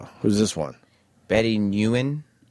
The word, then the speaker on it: Nguyen: Who's this one Betty Nguyen? How is Betty the king Nicky union gotta pronounce that G Sam Yeah Every letter that's in a word is there for reason.